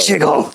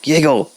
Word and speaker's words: Yiggle: My Jiggle! Not Jiggle, Yiggle.